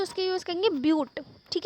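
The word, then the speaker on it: but: 4 carbon atom है तो उसके यूज़ करेंगे ब्यूट, ठीक है। इसे बट लिखा हुआ है यहाँ पे, बट इसे हम ब्यूट प्रोनाउंस करते हैं, ठीक है, क्योंकि ब्यूटेन वगैरह आप आगे पढ़ेंगे तो इसे ब्यूट प्रोनाउंस करते हैं।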